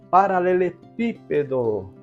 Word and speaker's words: paralelepípedo: e nesse caso aqui paralelepípedo coma cab tônica exatamente o pi então recebe assento gráfico